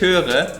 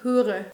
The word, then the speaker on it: höre: bien entonces tenemos ö con los dos puntos Ich höre significa "Oigo" y Joss siempre dice "Ich hure" y suena más como si dijeras..prostituta El último de esos con los dos puntos es el ü.